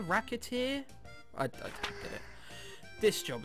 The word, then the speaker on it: Recettear: Shouting Out ho reer mispronounce it even slightly and reer Racket ear racket ear racketeer I get it this